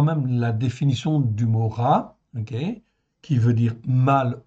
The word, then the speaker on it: רע: Ra, le voici. Donc il apparaît à l'écran. Hein, ça se prononce ra. C'est un resh et un aïn, comme vous le voyez là.